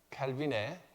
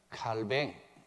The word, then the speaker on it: 칼뱅: 이제 조금 이따가 상세하게 살펴볼 텐데, 먼저 지난주에 켈빈의, 이제 이해하셨으니까 켈빈 말고 조금 더 있어 보이게 칼뱅 그렇게 이제 발음하겠습니다.